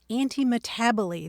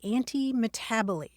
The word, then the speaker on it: antimetabole: we can talk about one of which is anti-abo this is an example of anti-abo which isn't one of your long-lost relatives it's spelled a n t m e t a b o l e anti- tabell and that comes from Greek words that means